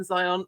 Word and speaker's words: Zionts: book first of I'm getting to meet Alison Zions in person if we call this in person and please tell me you have pronounced your last name wrong there Alison um